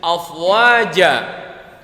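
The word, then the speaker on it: أفواجا: Huruf terakhirnya afwaja berbaris tanwin, tapi habis itu ada alif. Ini namanya mad iwad. Ini namanya mad iwad karena huruf jimnya dimatikan kemudian dibacanya dibacanya jadi satu tanda baca, yang tadinya jan jadi ja dan dibacanya panjang.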